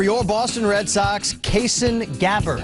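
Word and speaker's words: Gabbard: Boston Red Sox KAS gabber I'm told it rhymes with scabard right and they have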